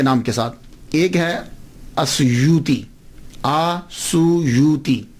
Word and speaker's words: السیوطی: ایک ہے السیوطی، آسویوتی، الف کے اوپر زبر، شروع میں الف ہے، السیوطی، ابن القطب اور الشاذلی، یہ 3 ٹائٹل ہیں۔ یہ جو السیوط ہے نا، اس کے تلفظ میں 2 باتیں قابل غور ہیں۔ پہلی بات تو یہ ہے کہ اکثر الف چھوڑ جاتے ہیں، سیوطی کے علامہ جلال